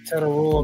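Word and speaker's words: Tetairoa: Tedderroy McMillan.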